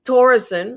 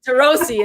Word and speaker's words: Torossian: putting racial turkeyman marie torrison i have to pronounce your name right he's with stardust how okay you say it better than i do tarosi and there i said it right you know as a